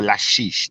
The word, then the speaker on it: Lachish: is spelled siege of l-a-c-h-i-s-h lachish or lashish is how i i think it's pronounced i'm not entirely sure